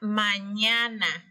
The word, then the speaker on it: mañana: consonante que está aquí la ñ se pronuncia con la boca un poco abierta ya mí me ha apoyando la lengua en el medio del paladar el paladar es la